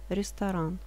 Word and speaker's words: restaurant: Ресторан – Т не читается в конце. Ресторан.